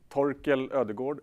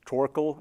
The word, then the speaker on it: Torkel Ödegaard: yeah my name is told kill the gourd is how we pronounce it in Swedish a mostly it's becomes torkoal in English ever so I figured